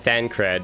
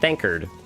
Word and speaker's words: Thancred: And you title it by the actual name, and it's like, instead of, you title it Thancred, and then it's just me pronouncing it Thankard.